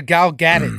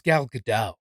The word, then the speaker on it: Gal Gadot: you pronounce it she I said a gal Gannon for years somebody was like actually it's good I'll get it it's gal gadot okay it's gal gadot got it gal gadot you got